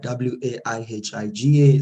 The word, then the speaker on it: Waihiga: Actually, my name is Waihiga, W-A-I-H-I-G-A, spelled, pronounced Waihiga. Thank you for that.